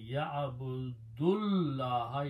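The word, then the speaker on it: يَعْبُدُ اللَّهَ: And then when you recite them together, you combine ya'abudullaha, you don't pronounce the alif, and alif becomes hamzatul wasl and it has a small swad on it.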